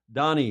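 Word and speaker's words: Dhani: sh sh shif shif I think it's pronounced Donnie Harrison thank you not Johnny Donnie Harrison thank you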